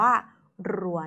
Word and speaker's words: รัว: ใช่ ไหม คะ ว่า เสียง รอ เรือ กับ เสียง ล ลิง จะ ออก เสียง ไม่ เหมือน กัน ดัง นั้น เนี่ย หาก